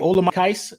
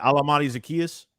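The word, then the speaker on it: Olamide Zaccheaus: man because what's his name was his name Ola case am I saying that right he is I say it wrong I can correct al-amani Zacchaeus yes he is absolutely capable of taking ques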